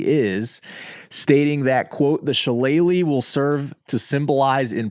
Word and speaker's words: shillelagh: of all but more importantly the jeweled it's pronounced sheleighly the jewelry is the trophy awarded to the winner of the annual game a shillelagh is an Irish Club made of oak and